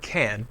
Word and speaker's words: can: it can can but when we say can in a sentence the pronunciation usually changes listen i can sing notice the stress the word can is unstressed the main verb after